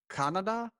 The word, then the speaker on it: Kannada: it says their main language at least is pronounced canada yes exactly oh you got a spot on